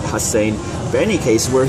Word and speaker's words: Hussein: Ever since I told him that one of the S's was redundant and it's Hussein and not Hussein.